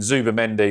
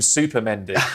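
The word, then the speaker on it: Zubimendi: It was really quite funny actually this week we saw one of the pundits mispronounce Zuba Mendy which I'm I'm very guilty of mispronouncing names but he called him Super Mendy which I think he should just accept.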